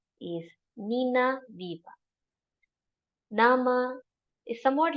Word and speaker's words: Weber: My Name is Nina Viva. So W and B are pronounced as V and V again.